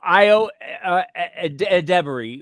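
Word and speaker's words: Ayo Edebiri: Yeah, well, and Io Debary, which is how you pronounce her name. I've been saying it wrong this whole time.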